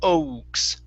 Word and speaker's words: oaks: Okay, this word is oaks instead of oaks. Okay, the Mm-hmm. A will not make a sound, so it's only oaks.